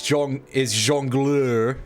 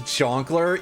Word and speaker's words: jongleur: The actual word is jongleur because it's French, but I'm gonna pronounce it as Tenant Peller. That's pretty good. But I'm gonna pronounce it as Jonkler, even though, like, yes,